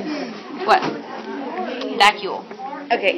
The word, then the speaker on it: vacuole: Vacuole. Okay, it's either a vacuole Like vacuum, but vacuole.